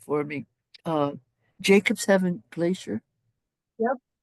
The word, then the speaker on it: Jakobshavn: And you have to pronounce it correctly for me. Jacobshavn Glacier. Yep. Jakobshavn.